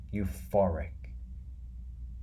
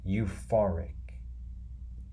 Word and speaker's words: euphoric: you far Rick and the stress the loudest part is in the middle the full part so it should be pronounced as this euphoric euphoric euphoric the Lester funds